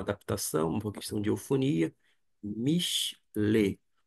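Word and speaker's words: מִשְׁלֵי: Acontece que eu não vou pronunciar Michelet, Michelet, tampouco Michelei. E eu, Gustavo Luiz, vou pronunciar fazendo, vou dizer assim, uma adaptação, uma questão de eufonia. Michelet.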